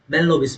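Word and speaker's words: Mahalanobis: Professor PC महलनोबिस का। मेलनोबिस basically ये hello H एल जो होते है ये बेसिकली साइलेंट कर देते। तो मेलनोबिस हो गया।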